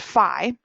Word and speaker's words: Phi: a line through it it's a Greek letter pronounced Phi so we use Phi to represent the golden